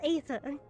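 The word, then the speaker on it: Aether: I think it's Ether. It's ether. No, with no. The E. No, it starts with an A, so it's Ether. The A is silent.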